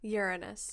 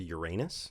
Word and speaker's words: Uranus: Is that really how you pronounce it? Yes. Uranus. As opposed to Uranus. Yeah. I mean, we're just putting the different emphasis on different syllable there.